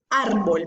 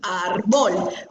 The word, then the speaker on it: árbol: Árbol, nosotros no decimos árbol. Ve, mira ese árbol. Nosotros decimos, mira ese árbol. O sea que la fuerza está en la penúltima sílaba, por eso es una palabra grave.